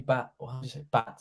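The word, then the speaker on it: Batth: Danny Bath had a... That's how you pronounce it. B-A-R-T, like from Simpsons.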